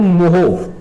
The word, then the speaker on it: mho: इसको क्या बोलते हैं, या इसको बोलते हैं मोहो, ठीक है जी, MHO। देखिए ओम की स्पेलिंग को उल्टा कर दिया और कुछ नहीं किया है, ठीक है जी।